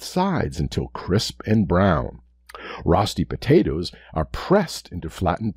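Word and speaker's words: Rösti: you can always hit pause today's word is rusty spelt r-o-s-t-i rusty sometimes pronounced roasty five four three two one zero according to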